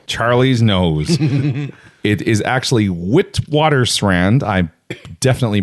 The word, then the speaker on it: Witwatersrand: a single mine Charlie's nose it is actually Witwatersrand I definitely pronounce it again Witwatersrand Witwatersrand in south africa hmm so nearly half